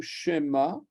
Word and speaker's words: Shema: Shema s'écrit avec un 2 points comme ça, et il est court. Shema. C'est pas comme si je mettais les 2 points dans l'autre sens. Shema ou Shema.